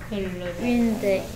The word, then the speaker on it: Wednesday: Wednesday. Wednesday 그러던가요? 아니 Wednesday. 아 Wednesday. 근데 얘는 Wednesday 라는 소리하고 글자하고 너무 달라.